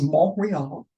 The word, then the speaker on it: Montreal: Is Montreal, the T is a silent, and then Quebec, and then Toronto, actually Rondo.